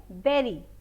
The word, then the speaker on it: bury: इसका pronunciation यहाँ पे हम लोग करते हैं berry, berry, not bury. ठीक है, berry. जैसे हम लोग स्ट्रॉबेरी होती है, ब्लैकबेरी होती है, तो वैसे ही हम लोग यहाँ पे इसका प्रोनाउंसिएशन बेरी ही करेंगे. इट इज़ नॉट बरी.